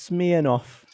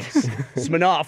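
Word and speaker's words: Smirnoff: what's interesting is that in America it's pronounced smear off what's it called in the UK guess smaroff I don't know smof since you don't say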